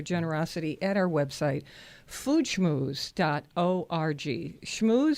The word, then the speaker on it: schmooze: Schmooze spelled like school. SCHMOO like the cow, ZE.